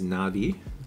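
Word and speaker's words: Na.V: beam of prism phandom name is na'vi like Avatar na'vi pronounced like that wait so this is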